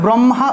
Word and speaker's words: ব্রহ্মা: তা ব্রহ্মা ব্রহ্মা থাকলে আমরা বাংলায় বললে তো ব্রহ্মা, এই যে ব্রহ্মা শব্দটা, ব্রহ্মা বিষ্ণু মহেশ্বর, এই যে ব্রহ্মা শব্দটা বাংলায় বললে তো ব্রহ্মা, কিন্তু আমরা সবসময় ব্রহ্মা না বলে কী বলবো, ব্রহ্মা, এটা হলো প্রকৃত উচ্চারণ ব্রহ্মা, এটা হলো প্রকৃত উচ্চারণ ব্রহ্মা, ঠিক আছে, ব্রহ্মা।